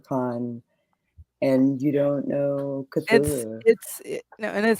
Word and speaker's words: Cthulhu: Chihulu? Is it Chihulu? Cthulhu.